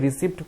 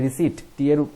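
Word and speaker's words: receipt: আর উচ্চারণ বলে রাখি, এটা রিসিপ্ট করবে না সকলে, এটা করবে রিসিট। পি এর উচ্চারণ এখানে সাইলেন্ট।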